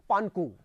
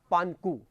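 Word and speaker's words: 盘古: ये नाम है, इसका उच्चारण जरा जो लिखा हुआ वो उच्चारण नहीं है, पानकू। क्या उच्चारण है? पानकू।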